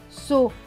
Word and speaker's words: sottise: Là, le S ne va pas se prononcer S. Il va se prononcer Z. Parce que avant et après, il y a une voyelle. Donc, vous voyez, I et E sont deux voyelles. Donc, S et E va se prononcer Z. Donc, ce mot va se lire so. Ti. Z. Sottise.